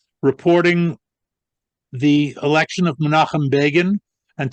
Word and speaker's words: Begin: the election of Menachem Begin, and to make sure that their readers didn't mispronounce his name, they put in parentheses rhymes with Fagin.